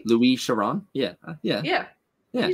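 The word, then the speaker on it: Louis Chiron: this um Louise Sharon I'm gonna assume that it's it's pronounced a little bit different than Lewis Chiron yeah you said it a little French so I Luis Sharon yeah yeah yeah yeah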